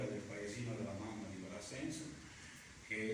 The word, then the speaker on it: Brassens: C'entra perché Brassens, suo papà era un muratore di origini comunque dell'Occitania, il nome Brassens è una derivazione, cioè è un nome occitano, infatti si legge la S, e tutti i